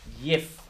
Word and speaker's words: yiff: It's pronounced yif.